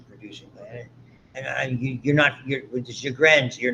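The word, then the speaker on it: Sjögren's: Sjogren's is how you pronounce it.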